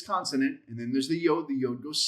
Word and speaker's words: yod: Yod. Yod, which is the Y sound.